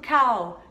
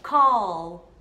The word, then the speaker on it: call: E este verbinho aqui, como que você pronuncia? Eu escuto muitas pessoas falando cow. Cow me, né? Cow me, cow. Só que, gente, cow é vaca. E se escreve deste jeito, cow. O certo vai ser call. Call. Então tem esse som de O, O e o L no final.